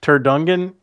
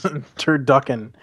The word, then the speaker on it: turducken: Turkducken?